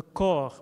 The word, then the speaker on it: corps: Le corps, oui. Et le temps. So we don't pronounce the PS here.